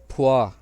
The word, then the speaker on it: p: फिर है पी, इसका है फुआ, फुआ।